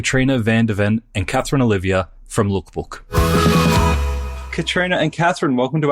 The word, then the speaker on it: Leukbook: So lookbook. Now that's L E U K book at the end. And I at the outset, Nathan, I will tell your followers why it's spelled that way.